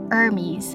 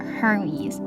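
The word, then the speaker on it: Hermès: silent and it is more Hermes, not Hermes.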